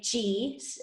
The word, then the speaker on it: qi: spelling of qigong so q i q i is pronounced chi okay i've also probably